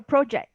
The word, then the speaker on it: project: Is I it have I have a project.